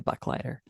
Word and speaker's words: Buchleiter: People have a tricky time pronouncing it unless you My grandfather always said, "If I gave you a dollar, I'd be a Buck Lighter."